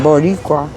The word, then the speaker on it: Boricua: Oh, Baricua. Is that how you say it? Mm-hmm. Boricua.